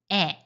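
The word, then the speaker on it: へ: For example, kasa versus ikkai asa versus kissaten ka o versus shintai When the Hiragana character he is used as a particle indicating direction, it is pronounced e.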